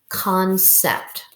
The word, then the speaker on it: concept: So this will say sept, because remember when we have a C followed by an E, it makes the S sound. Concept.